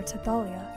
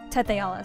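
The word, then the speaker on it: Tethe'alla: a man named nebim who attempted to conquer tealia Teala sorry why did I pronounce it like that uh nebim was eventually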